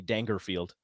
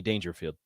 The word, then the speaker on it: Dangerfield: No, because it's not Rodney Dangerfield. It's Rodney Dangerfield. If you say so. No, it is. Nobody pronounces his name Dangerfield.